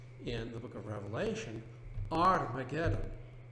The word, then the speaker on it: Armageddon: Har Megiddo becomes, in the book of Revelation, Armageddon. You do not pronounce the H in Greek.